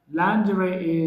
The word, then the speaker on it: lingerie: It must be pronounced as lingerie.